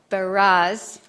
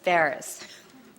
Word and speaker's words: Barras: And so now it is my pleasure to introduce you to our next speaker, James Barras, rhyming with Paris. James Barras.